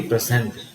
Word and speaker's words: present: you this word so look at this word again present the stress is on the first syllable here the stress is